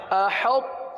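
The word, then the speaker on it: أحطت: حمزہ زبر ا، حا طا تا زبر حط، احط، تا پیش تو، احط، احط.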